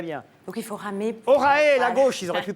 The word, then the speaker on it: Orae: Parce que ça reste énigmatique quand on ne sait pas ce que veut dire Vous Orae. l'avez bien prononcé tout à l'heure.